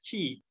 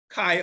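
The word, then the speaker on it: chi: Alpha Kai Alpha Beta some says Kai some says ke so that's the Greek letter it's a 22nd letter of the Greek alphabet Kai or key so viewers viewers there's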